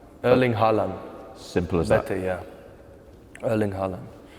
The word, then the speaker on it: Haaland: Haaland. Erling Haaland. Simple as Better, that. yeah. Erling Haaland. Erling Haaland. I have to think because it's a bit different in Norwegian and English.